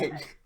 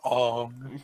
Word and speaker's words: Aang: Aang. Although his airbending skills are great, he has a lot to learn before he Keep I'm sorry. watching me in the shower. You pronounced his name wrong. It's Ong.